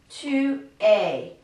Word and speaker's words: es: This es is very similar to, if you think of the pronunciation in English, a, y. Tu es. Il est. It's spelled differently in French, but it's pronounced just the same way.